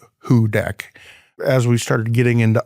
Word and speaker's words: Houdek: and our state soil, uh, is hooded soil, pronounced "who deck".